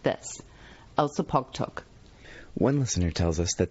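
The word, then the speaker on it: Elsipogtog: o g t o g is in fact pronounced like this elsa pog talk one listener tells us that this literally translates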